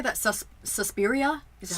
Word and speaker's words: Suspiria: Suspiria? Is it how you pronounce it?